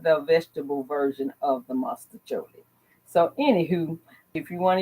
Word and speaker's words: Mostaccioli: And here they, I don't know why they got the name, but it's mustacholi, spelled with the O, Mostaccioli.